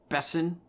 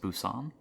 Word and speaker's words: Besson: All right, so Anna is directed by Luc Besson. Or is that how you say his name? I guess. Busan? No, Besson. Yeah.